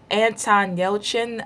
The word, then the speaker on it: Anton Yelchin: First of all, Anton Yelchin, I think it's how he's pronounced his name, Chekhov, he died.